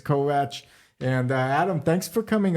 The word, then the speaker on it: Kovács: Now that's pronounced Kovács, I guess in American, and Hungarian it's Kovács.